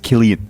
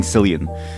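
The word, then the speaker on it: Cillian: Killian Murphy also I I found out his name is pronounced Killian okay his name is pronounced Killian Murphy because I I said San and I don't know if they were I mean they were probably Irish they got extremely mad at me saying selan so I was like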